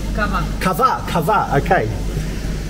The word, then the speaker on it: kava: Kava.